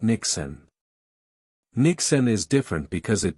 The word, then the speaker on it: Niksen: It's called Nixon, pronounced Nixon. Nixon comes from the Dutch word ny which simply means nothing.